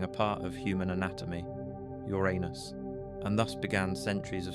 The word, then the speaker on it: Uranus: Some pronounce it your unus with the emphasis on the first syllable trying to create distance from the unfortunate alternative.